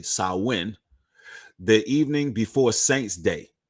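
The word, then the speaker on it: Samhain: of the traditions of Sam Hayne or it's actually sauwin the evening before Saints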